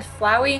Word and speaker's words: Flowey: knows the exact pronunciations I always said flowy CU it's like flower but I mean you can